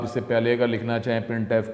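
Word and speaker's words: printf: हैं the standard library function प्रिंट एफ जिसको pronounce किया जाता है प्रिंट एफ इज यूज for formatted output अब प्रिंट एफ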